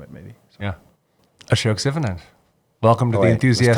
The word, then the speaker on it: Sivanand: is actually an SH. Yeah, Sivanand. there's a hidden H. Sivanand. Sivanand. Yeah. And the accent is in the on. Yeah, Sivanand.